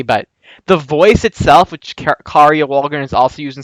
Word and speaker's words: Kari: who first so long I thought it was Carrie Walgrren until she was on Tuned in with Jim Cummings. Apparently her real name is K is pronounced Kari but whatever.